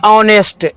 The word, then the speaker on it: honest: आप देखेंगे कि वैसा वर्ड जो एच से शुरू होंगे लेकिन उसको हम साइलेंट मानेंगे। जैसे एग्जाम्पल के लिए होता है एन ऑनेस्ट, HONEST, एन ऑनेस्ट मैन,